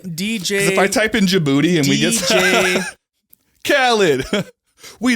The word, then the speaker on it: Djibouti: are you telling your story how do you spell it dj if i type in djibouti and we get khalid we the best in